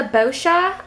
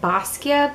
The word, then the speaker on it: Boscia: I got it at this is the bosha I believe that's how you pronounce it I know some people have pronounced it basquia but I think it's bosia anyway this is the